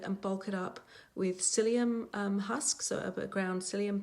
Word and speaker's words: psyllium: It's spelt Psyllium, but pronounced psyllium.